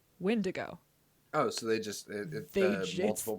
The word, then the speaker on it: Wendigo: They just pronounced it Windigo, but it is spelled Wendigo. Wendigo.